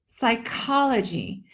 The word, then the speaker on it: psychology: this word is psychology psychology the accent is on the second syllable psyche I want you